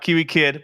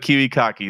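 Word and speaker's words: KiWiKaKi: Not Kiwi Kid, but Kiwi Kaki.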